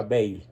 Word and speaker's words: Bayle: Se escribe Bayle con Y, pero se pronuncia Bayle.